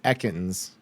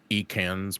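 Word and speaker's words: Ekans: So in my brain, how would you have pronounced it backwards if you didn't know it was echans? E cans probably.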